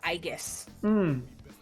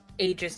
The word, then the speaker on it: Aegis: Aegis or uh Aiggus. I guess is how they say it in English. Aegis is how they say it in Japanese.